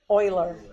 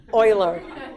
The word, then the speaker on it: Euler: named E it's called e after the mathematician Euler Euler that's how you pronounce that coiler okay so E is like